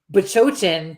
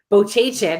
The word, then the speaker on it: Bachochin: You, on the other hand, we could say Bachochin to you 25 times to your face, and you're still going to say Bochachin every time.